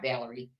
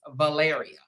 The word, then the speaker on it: Valaria: you pronounce it's not Valerie I be want to call her Valerie but it's not Valerie it's Valaria we're gonna be talking about Keith Smith and Valaria Smith today okay these